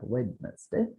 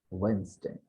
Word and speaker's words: Wednesday: And it's not Wednesday, but it's Wednesday.